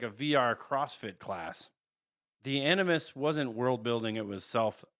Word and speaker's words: Animus: One, the I'm assuming I'm pronouncing this right, the Animus. Yes, the Animus.